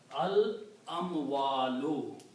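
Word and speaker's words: الأموال: So it will become, because of the al, two dhammas will change into one. So this word will now be pronounced as al amwalu.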